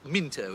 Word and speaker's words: Mousepaddler: It's written Mousepaddler, but it's pronounced Minto. It's an English thing.